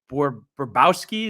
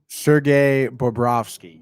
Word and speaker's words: Bobrovsky: And what is it? Borbowski? Is that how you pronounce the goalie's name? Sergei Bobrovsky.